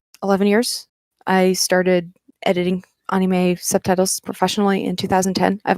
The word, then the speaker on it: anime: from animation in english it's perfectly fair to pronounce it anime but in japan they do pronounce it anime which is why that's how i pronounce it